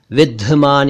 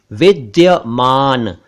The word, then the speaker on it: विद्यमान: है विद्यमान यानी मौजूद इसे कुछ लोग विद्यमान या विद्यमान या विधमान कहते हैं जबकि यह है विद्यमान एक शब्द है द्योतक